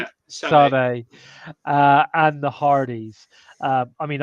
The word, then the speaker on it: Sade: Yeah, Sade.